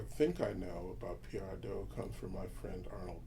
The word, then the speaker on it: Adu: And I liked thinking through Adu, or how do you say it? Adu.